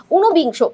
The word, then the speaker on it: ঊনবিংশ: ঊনবিংশ, ঊনবিংশ এটা দেখো উচ্চারণে আমরা নয়ের সাথে একটা ওকার পাচ্ছি, উ নো। ঠিক আছে, উ নো।